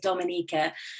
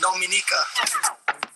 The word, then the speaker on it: Dominica: Okay, boom, we call it Dominica. Yes, the nature isle of the Caribbean. It's rum punch time. Oh, we call it Dominica. It is spelled D-O-M-I-N-I-C-A.